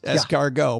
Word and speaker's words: escargot: Why would we put it there if you're not supposed to pronounce it? It is, very good point. However, in this case, it is escargot.